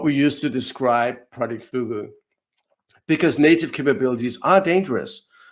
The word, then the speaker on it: fugu: So Fugu, or Hugu, I believe is pronounced, is actually Japanese for the pufferfish or the blowfish.